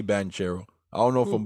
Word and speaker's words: Paolo Banchero: bank i don't know i don't know why they say ban kero like it's spelled with a ch i'm gonna just say banchero i don't know if